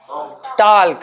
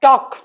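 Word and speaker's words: talk: ये L silent है। बहुत सुने हो बहुत। बहुत सुने हो इसलिए ना? बहुत सुने हो इसलिए जान गए। यहां एल साइलेंट है। यहां पर देखो आप टॉक है ना? एक ही स्वर आ रहा है।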